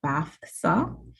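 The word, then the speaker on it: BAHFSA: health and Food Safety Authority bafa that's the correct way to say it and um I've been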